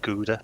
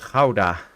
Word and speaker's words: Gouda: Thanks for that, because I didn't know that's how you say it. I've always said Gouda, but yeah. Yeah, it's a Dutch town, and we call it Gouda.